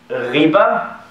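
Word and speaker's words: غيبة: Ghibat. So actually the word is ghiba.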